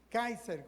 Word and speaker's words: Kaiser: Y cuando eso es lo que quiere decir, Nerón Kaiser. Kaiser, como se pronuncia también en alemán.